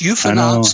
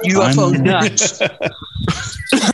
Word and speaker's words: UFOnauts: And it's Crowley, not Crowley, and it's UFOnauts, not UFO nuts.